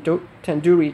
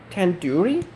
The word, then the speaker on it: tandoori: you least recognize 10 tandoori chicken you're saying it wrong wait really tandoori tandoori the do is isn't like door it's like doo doo head are you